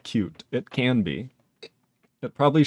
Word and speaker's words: Qt: Sorade says also, QT is pronounced like cute.